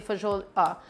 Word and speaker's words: fagioli: I don't want mushroom flavor in my pasta fagioli. I almost said it the American Italian way, right? Fagioli. Not the other pronunciation.